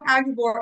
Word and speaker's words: Aguebor: to say it wrong just think of a Texas Aggie writing an Arkansas Board all right perfect so we've got agabor on the call with